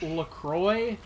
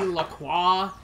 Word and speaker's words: LaCroix: That, well, not even, like, LaCroix is how everybody says it. Apparently supposed to be LaCroix, and I got told about that LaCroix, more than once.